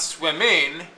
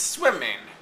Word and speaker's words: swimming: Okay, so if we look at the word swimming, swimming. It's not swimming, it's swimming. Okay, the ing in this case, because it's a suffix, is unstressed.